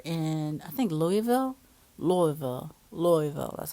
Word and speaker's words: Louisville: so we were in I think Louisville Louisville Louisville that's how you say it Louisville Louisville Kentucky